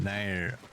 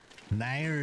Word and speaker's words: NieR: Nier is pronounced more like near.